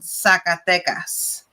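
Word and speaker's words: Zacatecas: state and the city it's called sacatecas so the z actually sounds like an s sort of it's more the sacate so this is the state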